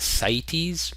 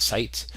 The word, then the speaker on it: CITES: I pronounce that CITES, not CITES. I don't know how you're supposed to pronounce it.